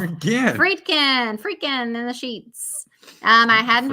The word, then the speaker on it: Friedkin: Friedkin in the sheets.